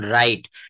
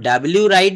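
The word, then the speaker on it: write: উচ্চারিত হয় না যেমন রাইট রাইট বানানটা হচ্ছে ডাবলিউ আর আই টিই ডাবলিউ আর আই টিই রাইট আমরা কি কখনো ডাবলিউ রাইট বলি বলি না আমরা কি বলি রাইট রাইট মানে হচ্ছে লেখা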